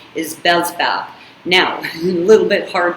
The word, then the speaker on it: Beelzebub: a demon of envy this demon's name is bellsval now a little bit hard to pronounce it's b e e l z e